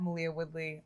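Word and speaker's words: Maleah Woodley: sorry yeah all right malia my name is malia woodley uh i'm gonna be playing bahati and uh you can also find me on instagram at malia woodley um i don't know if my name is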